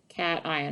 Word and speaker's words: cation: yes it's called a cat ion very good cation i know it looks like haitian but it's pronounced cation we learned that the